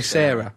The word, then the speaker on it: Sara: You're never quite sure how to pronounce it because Noel Gallagher's girlfriend, name is spelled S-A-R-A, but you've got to say Sarah.